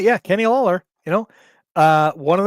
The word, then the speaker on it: Lawler: Lawler Kenny Lawler yeah I gonna get that name wrong but yes Kenny no you got it right yeah Kenny Lawler you know uh one of the greats of